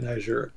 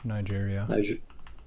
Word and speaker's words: Niger: was going down in Niger Google says it's pronounced yeah you said it right Niger Nigeria I always want to say Niger I don't